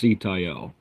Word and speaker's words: Sitael: We know it's pronounced Sitael.